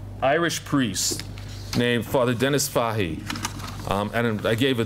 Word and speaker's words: Fahey: he is you grew up in new york pronouncing but it's fahi so if there are irish men here or